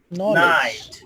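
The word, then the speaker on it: knight: এক্ষেত্রে কে অনুচ্চারিত থাকবে, খে এর উচ্চারণ হবে না। খে এর উচ্চারণ কি হবে? না। যেমন নলেজ, নাইট, নি।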